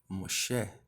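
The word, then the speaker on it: משה: Então, aqui de início, podemos ver que Moisés, em hebraico, se escreve e se lê Moshe, tá? Moshe.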